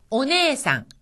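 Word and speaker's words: おねえさん: 가깝습니다 쿠기 공기라는 뜻입니다 오네상 오네상 여기서도네 다음에 애가 왔으니까 길게 발음되어 네가 되었죠 언니 또는 누나라는 뜻입니다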